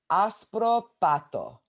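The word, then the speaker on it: άσπρο πάτο: So the way you say that is aspropato. Aspropato. Aspropato. So pato means bottom. Aspro actually means white.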